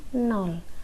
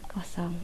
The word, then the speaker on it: nol: Saya tegaskan di sini ini bacanya nol bukan kosong oke bilangan bulat dapat